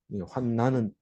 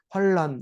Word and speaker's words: 환난: 쓰고 나머지는 안 없습니다 환난은 만 가지고 있는데 그래도 우리가 자꾸 발음을 할 때 환란 이렇게 하기가 쉽습니다 근데 환난 이렇게 읽어야 돼요 24절 읽어보면 내가 달